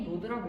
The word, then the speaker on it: Node.js: 흔히 노드라고 읽어.